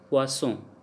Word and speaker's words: poisson: And if double S is there, then we pronounce like S, poisson.